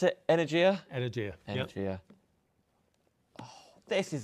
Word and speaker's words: Energia: Do you pronounce it Energia? Energia.